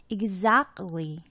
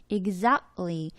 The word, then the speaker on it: exactly: 그래서 보면 exactly 한번 발음해 보세요, 여러분. exactly 목적 근처에서 소리가 약간 이렇게 잠기는 느낌이 들어요.